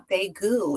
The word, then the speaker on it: Daegu: Today we have the beautiful EJ Jordan with uh here with us today for her book Towels in Deu. Is that how you pronounce it?